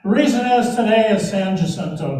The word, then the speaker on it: San Jacinto: reason is today is san jacinto day for san jose today if you want to be more accurate in the pronunciation in spanish 186 years ago today